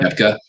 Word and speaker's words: Koepka: Koepka.